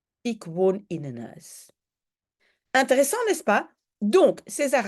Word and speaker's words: huis: une maison, un huis, mais en fait, je ne prononce pas la H. Donc, en fait, je devrais écrire comme ça, un huis. Ik woon in een huis. Ik woon in een huis.